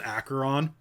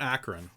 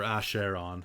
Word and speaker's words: Acheron: ended up uh he's an acheron if uh yeah not akron yeah that's where he is now akron is not a place you want to be or a share on if you want to pronounce it weird um acheron is uh